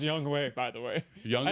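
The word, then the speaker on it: Younghoe: jason saunders four tyler bass three young hoku young hoe it really is pronounced young way by the way young i know it sounds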